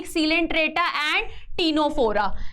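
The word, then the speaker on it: Ctenophora: है एक Coelenterata and टीनो फोरा है ना सी इज साइलेंट इसमें है ना समझ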